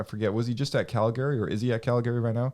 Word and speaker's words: Calgary: Was he just at Calgary, or is he at Calgary right now?